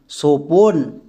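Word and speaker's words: স্বপন: উচ্চারণ করো সোপন, সোপন। এখানে কিন্তু বইয়ের উচ্চারণ পাচ্ছি না, তাহলে আমরা বুঝতে পেরে গেলাম যে বইয়ের জন্য আমরা ডব্লু বসাবো, কারণ বো সাইলেন্ট।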